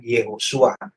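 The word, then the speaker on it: יהושע: Bahasanya Yosua itu sama dengan Yehosua, yang dalam bahasa Ibrani dilafalkan dengan Yehosua, sama dengan pelafalan nama Yesus.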